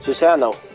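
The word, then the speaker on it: Susanoo: Also, when I searched up Susano's pronunciation, it's apparently the way how they spell the pronunciation is so sa now. In other words, they spell it SOOZAANOW. Susano.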